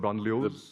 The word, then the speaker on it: banlieue: How could you have avoided what's happening in the, how do you pronounce the French term, banlieues?